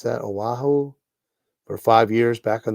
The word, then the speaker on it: Oahu: how to pronounce that oahu for five years back in the 80s when his dad was in the army yeah i'm i'm in oahu you pronounced it right oahu it's the island with